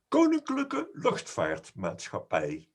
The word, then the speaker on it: Koninklijke Luchtvaartmaatschappij: But I think we should get Michiel to pronounce the full name of KLM for us. Happy to do that. It's Koninklijke Luchtvaartmaatschappij.